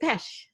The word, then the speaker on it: Pesch: And there's a hidden C in there. So it's James Pesch is Pesch. But a lot of people forget the C because, if you spell it phonetically, nobody would think of that.